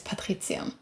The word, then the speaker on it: Patritzium: Uh, my full name is Patritzium. I am Austrian, so technically it's an Italian name, but it's pronounced in the German way.